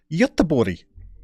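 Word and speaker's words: Göteborg: down this road before English people are going to try and call that Gothenburg Gotham Berg bear with me okay well let's take a run up at this Numero Uno you are from yet the body say that again close closer than Gothenburg isn't it but you don't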